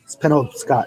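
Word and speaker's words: Penobscot: Maine there's a bridge called Pinole Scott it spin over Scott and I'm saying it right yeah but I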